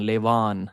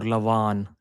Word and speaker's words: Levan: Levan is like L A Y lay and V double A N. Levan. That's It's not Levan or Lavan.